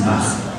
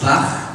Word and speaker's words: Bach: That's right, and you know, because I'm from Germany, I know how that name is pronounced, Bach. And some people here say Bach, but if you go to Germany and you ask for Bach, they'll give you a deodorant, roll on.